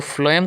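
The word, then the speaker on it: phloem: फ्लोएम का pronunciation जब आप करते हो ना तो फ्लोएम का प्रोनाउंसिएशन आप लिखते हो तो पीए हो पर करते हो एफ से हो।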